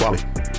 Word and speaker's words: Raleigh: But it's spelled R-A-L-E-I-G-H. Raleigh.